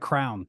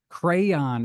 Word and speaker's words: crayon: I I say crayon crayon I say like crown yeah I say like sometimes you say Crown but yeah crayon is what it's actually pronounced so I've started